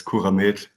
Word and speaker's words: CuraMed: So if you pronounce it in German, it's CuraMed, Akutklinik Allgäu, and yeah, that's my workplace.